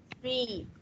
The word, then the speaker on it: street: Mình đừng đọc âm y ngắn nhé. Mình đọc là y dài cho nên phải đọc street.